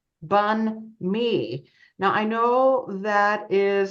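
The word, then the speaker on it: bánh mì: the the Vietnamese word bunme uh everyone was mispronouncing in different ways because it's spelled b a n hm I so it's a little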